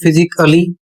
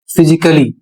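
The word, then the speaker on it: physically: Double L वाई इसको यदि आप पढ़ते हैं फिजिकली तो आप गलत पढ़ रहे हैं। इसका सही उच्चारण क्या होगा? इसका सही उच्चारण होगा फिजिकली।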